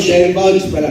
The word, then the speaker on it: divulge: Saan po pronounce? Divulge? Divulge. Divulge. Divulge. Divulge pala.